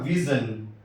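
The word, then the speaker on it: vision: آئی او۔ اسی طرح ویژن، ویژن، ایس آخر میں آئی او، تلفظ زا کا ہوا، ویژن۔ ٹی کا تلفظ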